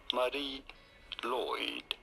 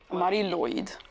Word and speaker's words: Mari Lwyd: In Welsh, this is said as Mari Lwyd. Lwyd. Oh, Lwyd.